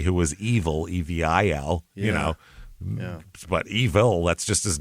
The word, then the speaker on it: Evel: was evil, Evil, But evil, that's just his name. He can't help it. It's just a word, Evil, it could have been, it's a German name, Evel, and we pronounce it evil in America.